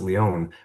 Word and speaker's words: Lion: And so, my LinkedIn is, as you mentioned, the last name is pronounced Leon, but it's spelled like lion, right?